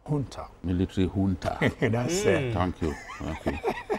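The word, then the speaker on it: junta: And at the end of the day, the military juna, how did you say is pronounced? Ha. Military hunter.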